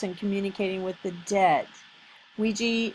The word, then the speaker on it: Ouija: Ouija is pronounced Ouija.